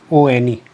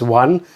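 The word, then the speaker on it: -one: always a suffix hyphen one. So it's not pronounced as one, it is on.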